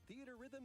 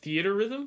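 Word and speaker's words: Theatrhythm: series with the latest theater rhythm game that's how you say it theater rhythm enjoy iconic it was just theater rhythm why did they get rid of the e between the h r 385 songs total songs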